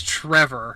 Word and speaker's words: Trever: It's Trevor. Trevor. I know, and it's spelled funny, so it's Trever, Trevor.